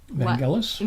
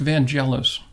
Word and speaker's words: Vangelis: It's Chariots of Fire by, Vangelis? Vangelis, thank you. Yes, Vangelis. Very good. Vangelis. Thank God. Oh, what a great guy. Nice. Yeah. Well, I always pronounced Vangelis.